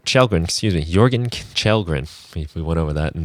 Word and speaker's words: Jörgen Kjellgren: Jörgen Kjellgren, if you can spell that.